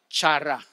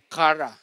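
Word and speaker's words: χαρά: ay ito po ay tinatawag na Chara or sa ibang pronunciation narinig ko ay Kara no Ah ano po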